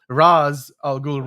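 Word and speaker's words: Ra's al Ghul: That's actually raz algul.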